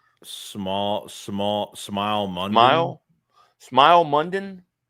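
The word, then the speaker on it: Smael: Smile. Small. Smile. Mund. Smile. Smile. Mundon. Or smile. Mund. Yeah, they say it. They say it's smile, but it's like sm a l.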